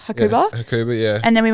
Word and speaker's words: Hakuba: to I don't know how to say it hakaba hakuba hakuba yeah and then we went to hakaba